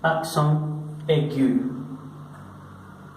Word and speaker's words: accent aigu: Que en francés se pronuncia accent aigu. Accent aigu. De esta forma la vamos a pronunciar aigu.